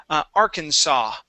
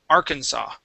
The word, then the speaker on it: Arkansas: this is a strange one okay it's actually pronounced Arkansas okay so the S at the n is not pronounced okay this is a state in the United States okay it it is Arkansas Arkansas okay one more time Arkansas Arkansas very